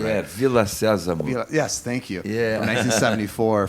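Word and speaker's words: Vila Sésamo: Brazilian edition of Sesame Street, which technically is Via Sésamo, if I'm pronouncing it right. Yeah, Villa Sésamo.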